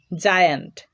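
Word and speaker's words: giant: যেমন জায়ান্ট, এখানে দেখো জি এর পরে আই রয়েছে, জি এর উচ্চারণ হচ্ছে জয়ের মতো।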